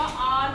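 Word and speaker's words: hour: ही reached dash N आर। यहाँ भी एच हमारा साइलेंट होगा, आर बोलेंगे इसको, तो यहाँ पर आएगा एन।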